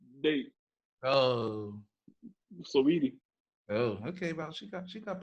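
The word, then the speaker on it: Saweetie: Swati or Cardi B? Ooh. You know who Swati is. First of all, it's pronounced Sweetie.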